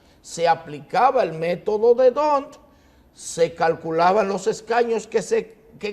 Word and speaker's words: D'Hondt: Sí, lo que pasa es que la pronunciación es D'Hondt. D'Hondt, correcto. Porque tiene una D adelante.